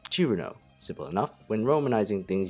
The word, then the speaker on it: Cirno: pronunciation of them all the fairy's name in japanese is chiruno simple enough when romanizing